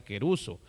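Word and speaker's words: κηρύσσω: Por ejemplo, aquí la palabra predicar es la palabra querizo, bueno, así se menciona, o así se escribe, pero así se menciona queruso.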